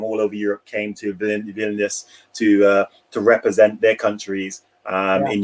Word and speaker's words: Vilnius: Is it Vilnius? Am I pronouncing it right?